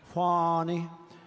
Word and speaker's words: Fani: now even though it's I believe it's spelled f a ni I to my way of thinking that's Fanny but when she became the district attorney I think she put a little emphasis on the youu fonnie so corrupt fonnie Willis